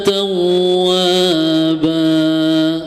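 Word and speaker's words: تَوَّابًا: fathah kana tawwaba nah di huruf wau ada tasdid ya tetapi jangan diidgamkan hanya ditekan saja tawwaba ya kalau diidgamkan beda lagi tawwaba dua harakat jatuhnya tapi kalau misalkan tasdid itu cukup ditekan saja ya innahu kaana tawwaba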